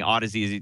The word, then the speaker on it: Audeze: Audeze, it looks like some people pronounce it Audeze, Audeze.